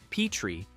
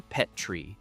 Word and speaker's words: Petrie: version of the character pronounced his own last name Petrie with a long e like the dish.